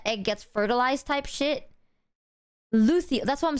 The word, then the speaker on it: luteal: Yeah, luteal.